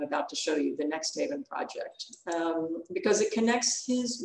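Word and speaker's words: NXTHVN: that's pretty soon now this word is pronounced next haven and it's an artist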